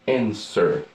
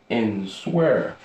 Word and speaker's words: answer: Now we gagne to answer. Tandis comment prononcer? Answer. Gen moun ki ka di answer. Okay, it's not answer. Okay, the W here almost silent. Alright, W is almost silent.